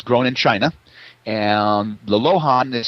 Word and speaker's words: Luohan: And the lohan is spelled many different ways. One of the ways it's spelled is Luohan, but pronounced lohan.